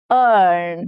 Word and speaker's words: earn: Next is earn. Now here E-A-R becomes earn, the same sound as heard.